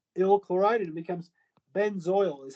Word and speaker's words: benzoyl: Benzoic acid, again, we just replaced the ic acid with ill chloride and it becomes benzoyl is how you pronounce that, benzoyl chloride.